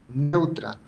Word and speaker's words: Neutra: Ella dijo, Marian Neutra. Entonces ella se pronuncia como Freud, que es neutra, pero se escribe así, neutra.